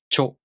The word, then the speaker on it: ちょ: To pronounce cho, the tongue moves from the ch consonant to the o vowel. Cho.